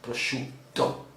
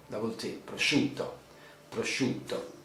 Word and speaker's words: prosciutto: you see the boutique even in this term prosciutto prosciutto prosciutto basically zaha uh raw ham mortadella oh